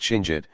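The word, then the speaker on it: Chinguetti: A striking minret flanks the main mosque of Ching Edi, pronounced Chinjit, an oasis over 2,000 mi to the southwest in what is now central Moritania.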